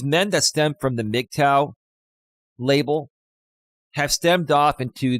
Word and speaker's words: MGTOW: And back in 2017 and 2018, there was this big movement for men called MGTOW, MGTOW. It's pronounced MGTOW, men going their own way.